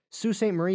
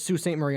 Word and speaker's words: Sault Ste. Marie: Sault Ste. Marie, by the way, is spelled Saulteste Marie. Pronounced Sault Ste. Don't ask me why. I will not. Also, there's Sault Ste. Marie, Ontario, which is right across the bay.